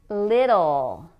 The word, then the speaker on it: little: Now here you can pronounce the T with a clear T, or you can pronounce it with the flap, which is like a fast D in English, little or little.